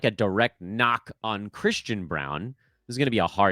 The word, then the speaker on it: Braun: shine off of Christian Braun. And the other thing that could take a little shine off Christian Braun is his differently spelled, similarly pronounced last name pal, Bruce Brown.